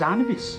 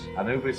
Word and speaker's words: Anubis: of the undead but I thought that was anabis Anubis is the guardian Anubis sorry sorry I got I I mispronounce things when I'm a little bit